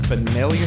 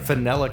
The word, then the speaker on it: Fanelia: and today I am with Brianna strange from felia cosplay hi did I say that right yes